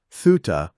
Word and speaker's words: Thuta: Thuta, which is the Burmese pronunciation of suta, means knowledge.